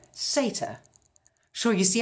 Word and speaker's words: satyr: than I do is it's not called the satire it's called a satyr sure you see how